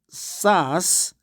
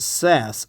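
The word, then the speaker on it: SaaS: we in inside KT we call it we pronounce it SAS but Americans pronounce it says software as a service this system is automatically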